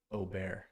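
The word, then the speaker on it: Åberg: Austin Eckroat, Nick Dunlap, Eric Cole, Wyndham Clark, and Akshay and Ludwig Aubert is actually how you say his name.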